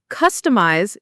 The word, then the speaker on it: customize: Customize is pronounced customize. The stress is on the first syllable, cus, and the I in eyes is a long I sound, like an ice.